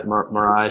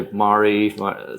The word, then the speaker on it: Marai: I've been wearing your Marai. Have I pronounced that correctly? Marai, is that correct Yeah, pronunciation? so I would say, yeah, Maraí. Some people say Maraí, so it depends maybe where you're regionally from, but yeah, so.